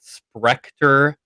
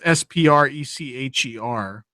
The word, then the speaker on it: Sprecher: Is it Sprecter soda that they're using? Yeah, I don't. It's SPRECHER.